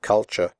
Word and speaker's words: culture: should pronounce the word culture correctly the first you is pronounced like the ooh in but and the last syllable is pronounced sure here are some other